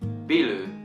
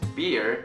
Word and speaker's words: beer: But when it comes to the pronunciation part, for instance, in Japanese, people call this thing biru. But as you guys know, it's beer. It's pronounced differently in Japanese.